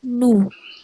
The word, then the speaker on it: nous: Terus ada NOUS nose dibacanya nu.